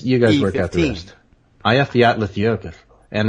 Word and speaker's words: Eyjafjallajökull: But those of us who are not Icelandic actually pronounce it E15. That is to say, E followed by 15 letters.